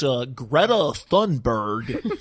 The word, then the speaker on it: Greta Thunberg: It sounds so extra ignorant to hear the way Americans pronounce her name after hearing the correct pronunciation. Yes, it's Greta Thunberg.